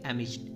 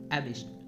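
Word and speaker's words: amidst: प्रयोग किया जाता है यहां पे डी जो है ना उसको हम लोग साइलेंट रखते हैं इसको क्या पढ़ेंगे एमिस्ट एमिस्ट ओके सो यहां पे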